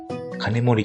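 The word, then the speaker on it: 金森: 金森と読むのが正解のようです。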